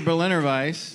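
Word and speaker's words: Berliner Weisse: is not that either it rhymes with edelweiss yes yeah exactly all right what do you think what are you thinking i'm gonna go with it yes it is the berliner vice does brick west dude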